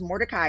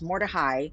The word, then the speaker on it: Mordecai: well first of all it's not pronounced Mordecai it's pronounced Mordechai and Mordechai is a